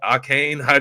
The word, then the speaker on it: Achane: outside, you look at Devin, is it Devon Achane? I don't say his name often. Yeah, A-Chain.